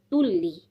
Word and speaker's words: tulli: And tulli means customs office.